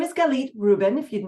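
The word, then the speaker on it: Galit Reuben: time so who am I my name is galit Ruben if you're not sure how to pronounce it I live in ohigh California I'm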